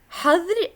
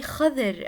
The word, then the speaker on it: حظر: حظر التجول, curfew. We don't say خضر التجول. Make sure that you pronounce the ha sound correctly.